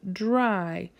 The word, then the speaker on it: dry: to dry the dishes dry it may sound like a J but it's actually a DNA are together I we're gonna spell